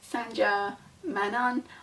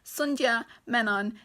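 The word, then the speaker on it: Sandhya Menon: it update from Futurama the author's name is pronounced Sun Jia men on if I've still pronounced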